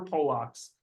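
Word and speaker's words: Polak: that some we're we're poock poock is how you say Polish person in Polish um yeah so that's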